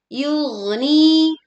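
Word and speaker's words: يُغْنِي: Yugni yug. Oke. Alirkan suara gin sukun agar tidak tersendat.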